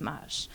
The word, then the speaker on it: Maj: I hope you know that Maj is pronounced Maj.